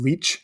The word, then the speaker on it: Læce: Now, Læce often gets pronounced as leech as well, and neither one of them are necessarily more correct than the other when we're moving them into modern English.